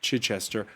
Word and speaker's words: Chichester: at the university of chichester i always wonder if i'm mispronouncing chichester is that how you say it yeah you got it i do got it